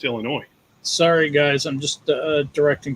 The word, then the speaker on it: Illinois: The S is silent. It's Illinois.